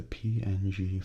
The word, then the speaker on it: PNG: The people who created the PNG file format wanted it to be pronounced like the word ping.